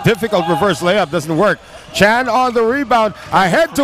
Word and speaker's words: Tran: And his name is spelled T-R-A-N, Tran, but it's actually really pronounced Chan.